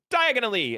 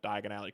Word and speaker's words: Diagon Alley: And Harry goes diagonally and he ends up in Nocturne Alley because he doesn't pronounce Diagon Alley correctly.